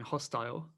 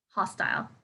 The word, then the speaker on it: hostile: Actually, sometimes I would hear hostile. No, hostile. I suppose hostel is like the hotel, isn't it? Like yeah. So maybe that would be confusing. That's TLE, right? With the no I.